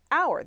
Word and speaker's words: hour: so a horse and our the H is silent in our a historic